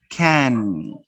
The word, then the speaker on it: can: Notice that I pronounce this word can in two different ways. I pronounce the first can using the schwa. She can dance, she can dance, she can dance. I use the schwa, she can dance. But the second can, I use it in a full form.